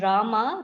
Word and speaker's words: Rama: mantra pronounced krish na and rama rhymes with drama are sanskrit words hare